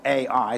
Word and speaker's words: Ai: Then they go to a little place called Ai, where it's spelled A-I. Some call it A-I, some call it I.